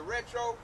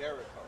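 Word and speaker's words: derecho: They call it the retro. Yeah, I pronounced it wrong last time. They called it Derico. A Derico. They had a storm called a Derico.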